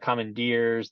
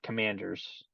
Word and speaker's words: Commanders: little bit, I was noticing people were like mispronouncing the name of the team, and they were calling them like the Commandeers, the Comanches, the everything but Commanders.